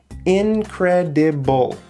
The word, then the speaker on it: incredible: at this word incredible it has four syllables four pieces of sound okay incredible incredible okay so can you hear which syllable is the loudest incredible incredible you're right